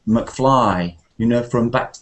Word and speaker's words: McFly: but if it's a short name like McFly then it's always the main part which is stressed so it wouldn't be McFly it would always be McFly you know from Back